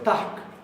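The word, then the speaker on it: takk: Esto ya lo conocen, pero tack es como se dice thanks en islandés. La doble K se pronuncia HK.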